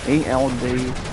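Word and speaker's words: Erdtree: You know, Elk Tree is pronounced, guys, ELDTREE.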